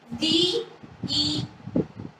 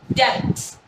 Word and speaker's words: debts: Let's see its pronunciation. D-E-B-T-S. We call it as debts, which is incorrect.